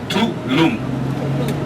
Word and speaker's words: Tulum: in the Maya language Tulum spells te u l u u m and pronounce t Loom T Loom to in Maya mean